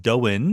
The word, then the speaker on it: Doyne: name name is pronounced doen he says it's like the word the name Owen but with a D in front of it even though it's spelled